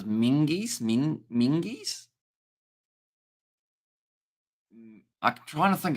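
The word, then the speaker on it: Menzies: Scottish Z is pronounced like a G. So it's Mingies?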